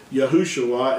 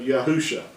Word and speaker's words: Yahushua: another letter in here yahushua would actually be in in between the shane and the ion that's the only way you can get this to to pronounce this yahushua instead of yahusha now so that's why